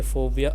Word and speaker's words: phobia: For example, my mother has a phobia about dust, meaning that she hates dust.